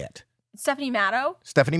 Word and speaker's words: Matto: your name how do you say it stephanie maddow stephanie meadows but then some people like sometimes say stephanie motto but it doesn't matter what they say it's